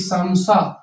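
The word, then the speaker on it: 사: इल ईसम इल ईसम चौथे नंबर पे सी होता है आ वाला व वाला बन गया सा ठीक है और ये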